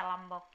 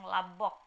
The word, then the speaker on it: lambok: Itu aturan M plus B ini di beberapa daerah tetap dibaca seperti penulisannya. Misalnya lambok tetap dibaca lambok. Tapi di beberapa daerah lain, seperti daerah saya khususnya, dibacanya langsung labok, bukan lambok.